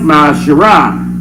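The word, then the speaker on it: מעשר: and malachi 3 8-10 means tiff in the hebrew and it's pronounced my shara 10 of every penny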